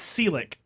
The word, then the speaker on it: Selick: Henry Selick. No. I-K? Get rid of one of those L's. It's only one L. That's Selick. Try it.